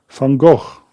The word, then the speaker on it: Van Gogh: Vincent Van Gogh.